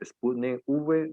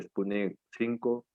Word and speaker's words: Sputnik V: Si es la rusa, inclusive pronuncia mal porque es Sputnik V de vacuna, pero como es una V y suena como la serie de satélite, entonces dice Sputnik 5, la vacuna AstraZeneca, las